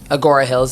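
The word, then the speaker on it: Agoura Hills: But I was just like, oh yeah, like the guy who was getting married was from Agora Hills, is that how you say it?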